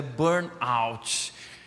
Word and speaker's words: burnout: Então assim, eu também estou pronunciando errado, não sou americano, né? Mas é burnout.